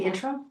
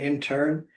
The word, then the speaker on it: interim: The interim? Yes. I will. That's an interim, not an intern.